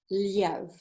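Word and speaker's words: Лев: And he said in Russia, the name is pronounced Liev, like Leo.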